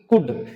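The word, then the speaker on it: could: इनको एल को साइलेंट रखना, यानी ऐसे नहीं बोलते आप शुड, वुड, कुड, इसको बोलना है शुड, वुड, कुड, यानी एल साइलेंट रखना।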